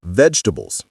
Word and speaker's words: vegetable: Let's talk about vegetables. The second word that nearly everyone mispronounces is vegetable. This word causes so much confusion because the spelling suggests four syllables, but native speakers only say three.